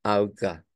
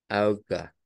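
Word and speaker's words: Auge: eh recordar que en inglés el ojo suena a i que se escribe con e y e y que en alemán se escribe con a u G e y que su pronunciación es como auga auga eh que en el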